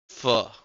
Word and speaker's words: pho: Faux pronounced like the beginning of fuck. Pho.